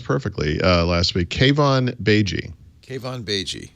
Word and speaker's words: Keivan Beigi: Mary Jo Browns perfectly elastic cave on Beijing cave on BG cave on BG not pronounced it that way so I'm glad I